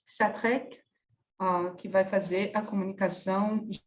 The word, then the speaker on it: Xatrec: Então, começamos com Christian Xatrec, c'est comme ça qu'on prononce Xatrec, qui vai fazer a comunicação Jean Dupuy, Les Peintures Anagrammatiques.